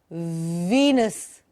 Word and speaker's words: Venus: With the ver sound. We all know. But say it correctly, please. जोर से बोलेंगे. Bite your lower lip. Venus.